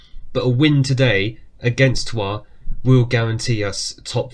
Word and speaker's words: Troyes: It is actually Troyes. I mean, the English apparently pronounce it as Troyes, but the French apparently pronounce it as Troyes.